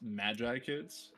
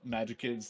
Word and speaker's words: Magikids: love yeah I mean I don't think it's pronounced Magi kids even though that' be the the actual pronunciation I think it's just magic kids like smash together but yeah it's great